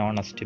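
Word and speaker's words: honest: പക്ഷേ ഈ എച്ചിൽ തുടങ്ങുന്ന ചില വാക്കുകളുടെ ഉച്ചാരണം വവൽ സൗണ്ടിലാണ് തുടങ്ങുന്നത്. അങ്ങനെയുള്ള വാക്കുകളുടെ മുന്നിൽ നമ്മൾ എന്ത് ചേർക്കണം? ആൻ ഉപയോഗിക്കണം. അതിന് കുറച്ച് ഉദാഹരണങ്ങളുണ്ട്. ആൻ ഓണസ്റ്റ് മാൻ, an hotel, an hour എന്നിവയുള്ള.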